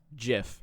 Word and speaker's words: GIF: can and do determine definitively that it is pronounced jiff and here's why your argument is wrong your